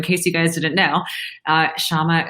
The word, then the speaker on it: Syama: you guys didn't know Shama is spelled with a why not an H make sure that I